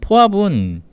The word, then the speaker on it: FAB: aip 영어로 약층으로 이렇게 쓰는데 보통 이제 흔히 모든 폭탄의 아버지음 FAB 뭐 포합이라고 읽으면 되겠네요. 얘는 그 아까 앞에 말한 미국의 모압 폭탄하고 좀 달라요. 모압은 그까 쉽게 말해서 그냥 일반 고폭탄인 건데이 포합은 열 압력탄이에요.